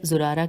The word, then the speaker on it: زرارہ: باقر علیہ السلام نے زرارہ رضی اللہ سے بیان کیا، زرارہ کی ہجے ہے زے پہ پیش ہے پھر رے زے رے الف رے ہے۔ زرارہ رضی اللہ سے